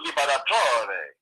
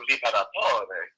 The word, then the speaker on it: Liberatore: But since then, I've always pronounced all the letters as most of the Italian words are, the Liberatore. So I say Liberatore. So you do say with the E on the E, Liberatore on the end.